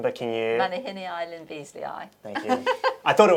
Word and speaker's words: Manihinea lynbeazleyae: I'm not going to attempt the pronunciation, but can you... Manihini Lyn Beazley.